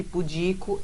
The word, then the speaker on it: pudico: como então vamos lá a pronúncia de pudico é essa que eu disse que não pudico tá tu é pudico paroxítona que termine ó então